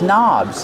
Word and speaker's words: knob: These towels are hanging from these knobs. These are called knobs. The word knob has a silent K on it. Don't pronounce the K. Start with the N sound.